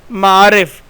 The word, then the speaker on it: معارف: بتانے لگا ہوں۔ معارف، پہلا لفظ ہے معارف، اس میں میم پر زبر ہے، عین پر زبر ہے،